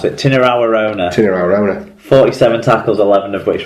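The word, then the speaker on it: Tinirau Arona: Well, how do you pronounce it? Tinarawarona.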